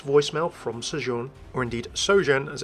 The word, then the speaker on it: Sojourn: Well, with a catchphrase of chase the truth, we know that with this voicemail from Sojourne, or indeed Sojourne as it's pronounced, we don't know who this person is, but we can speculate their role later.